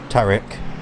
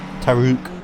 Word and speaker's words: Tariq: But it's Tariq, not Tariq or Taruk. It's Tariq.